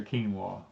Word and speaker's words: quinoa: No, chinoy. That's a quinoa. Quinoa. I couldn't remember because I called it a chinoy or something the first time I saw it, and Danny says I don't think that's how they say it, and so I had